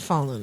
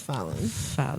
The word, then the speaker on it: Fallon: It's not Fallon, it's Fallon. Fallen. It's spelled fall on. It's Fallon.